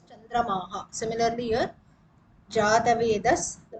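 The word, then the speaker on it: चन्द्रमाः: So it is like Chandramas. It becomes main word is original word is Chandramas. When we pronounce it is Chandramaha.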